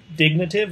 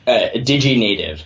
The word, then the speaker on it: DigiNative: So you wrote a piece that published a couple days ago in Dignative, if that's how you pronounce that. DigiNative. Oh, DigiNative. That makes more sense. It's like digital native.